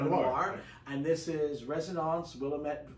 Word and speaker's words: Willamette: and this is residence willamette willamette valley right can't believe i almost mispronounced that uh i think a lot of people call it willowman yeah um so as